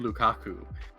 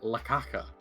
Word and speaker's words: Lukaku: start like internalizing some of these uh ultimate pronunciations you know people who don't like romelu Lukaku often call him lakaka and somehow who has come in with like